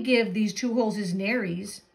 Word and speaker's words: nares: these two holes is Nares it helpful it's helpful to know that the word rhymes with fairies nurse sharks have whiskers